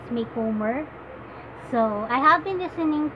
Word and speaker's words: Macomber: you pronounce her name I used to pronounce it Micawber but one that I heard from the internet is Macomber so I have been